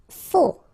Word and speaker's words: faux: Faux, okay, final X not pronounced, then you get this AU together, O, faux.